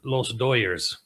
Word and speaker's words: Dodgers: I mean and what that means is if you follow baseball the Dodgers. However, however in in Southern California it's often pronounced the Los Doyers.